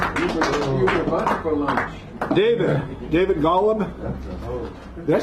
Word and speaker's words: Golub: David Golub. Did I say that right? Am I saying it right? Golub, yeah.